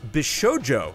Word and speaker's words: bishoujo: in the coming weeks it's pronounced bishoujo not the shoojo uh may have been